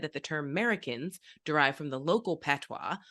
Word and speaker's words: Merikins: It's sometimes said that the term Americans derived from the local patois, but as many Americans have long been in the habit of dropping the initial A, it seems more likely